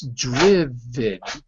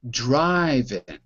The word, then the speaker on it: driven: So the pronunciation is not I, it's I. Driven.